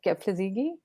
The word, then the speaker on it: Kebede: And in fact, you know, I read this book by Meb Kebede. That's how you Yeah.